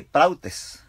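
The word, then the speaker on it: πραΰτης: Manso quiere decir, bueno, la palabra manso, mansedumbre, viene de una palabra griega que se pronuncia así, prautes.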